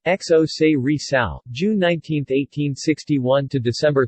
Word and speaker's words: José Rizal: Spanish pronunciation, José Rizal, June 19, 1861 to